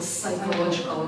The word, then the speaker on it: psychological: And also not psychological, psychological. We do not pronounce P letter.